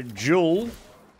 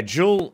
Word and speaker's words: Joule: who uh but yeah jewel um it's spelled the same way as like energy like a killer Jewel I'm